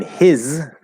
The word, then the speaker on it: his: um but yeah in his that's also a z and then is is also a z so his is spelled with an s is this spelled with an s they're z sounds house is spelled with